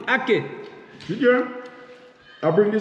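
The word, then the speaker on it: ackee: And it's spelled like this, A-C-K-E-E, aki.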